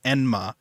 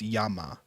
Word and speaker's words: Yama: some point they said their name is enma and then he says that's actually not the correct way to say it it's Yama uh I think there